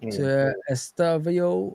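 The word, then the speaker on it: Estêvão: You got Estavio, I think that's how you say his name, the Brazilian kid. You say Estavio.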